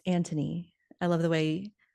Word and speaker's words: Anthony: So the mother, Violet, is left managing the kids, but then the oldest son, Anthony, and oh, it's pronounced Anthony.